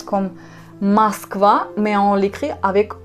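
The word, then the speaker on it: Москва: oh ça signifie pas que c'est on le prononce comme au masque va avec oh non on les prononce comme masque va mais en l'écrire avec o c'est juste une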